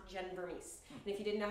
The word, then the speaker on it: Vermes: social media i have that is not jen vermees and if you didn't know how to pronounce my last name now you do anyway